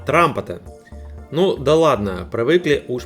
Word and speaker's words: Trumpeter: Правильно произносить, конечно, Трампета.